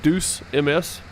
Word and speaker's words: Deuce MS: It's Deuce MS. Just Deuce MS. Like deuces.